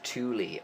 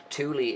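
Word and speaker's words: Thule: made so um it's the Germans pronounced it Tuli I believe um it's and that's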